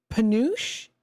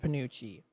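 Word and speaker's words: penuche: We've got National uh Pous, is that how it's pronounced?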